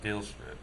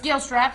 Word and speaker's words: Gilstrap: Danville city councilman John gilra uh hopefully I pronounce that right it's Gilstrap but that's fine I'm sure